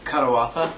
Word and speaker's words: Kadawatha: what is the correct pronunciation of your band? Kadawatha.